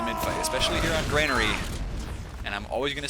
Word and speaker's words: Granary: say it like that stop telling me to say Granary you're wrong you're not wrong but you're not you're not the only one who's right we put it that way you can pronounce it both ways it's not wrong granery okay it's a